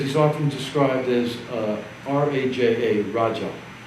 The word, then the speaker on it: Raja: often described as uh r-a-j-a Raja however it's pronounced in followers we say Roger right it means Kings